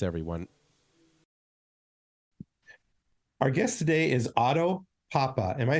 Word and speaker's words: Otto Pappa: Our guest today is Otto Pappa.